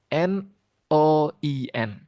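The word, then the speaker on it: neun: Kalau ada huruf e ua, dibaca oi. Jadi n e u n dibaca n o i n. Noin.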